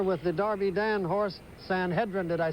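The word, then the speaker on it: Sanhedrin: Well, fellas, I'm right here with the Darby Dan horse, San Hedrin.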